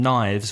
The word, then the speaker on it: knives: had knife before and knives which has a silent K that you do not pronounce so knife and knives